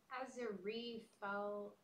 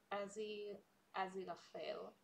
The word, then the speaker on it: Aziraphale: Azarifal. How do you say that, Daria? Well. Aziraphale.